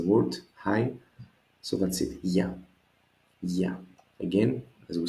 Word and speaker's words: Γεια: As you notice, there is no accent here. This is because actually we don't need an accent. It's only one syllable. It is a short word to say so. So it is just Γεια.